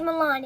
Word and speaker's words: Milan: My name is Milan. It rhymes with Salman.